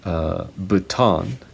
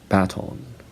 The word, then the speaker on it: baton: And for this next word, Americans say baton, and British people say baton.